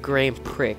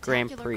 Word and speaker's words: Grand Prix: I mean, I hate's a really strong word, but to be honest, I really dislike when people say, oh, Grand Prix. It's really annoying. Yeah, the X is there, but pronounced Grand Prix.